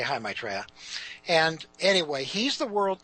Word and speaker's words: Maitreya: leader the world teacher his personal name is Maitreya I'll spell that it's ma i tre ye it means the happy one the one who brings joy his personal name is Maitreya just like my personal name is dick and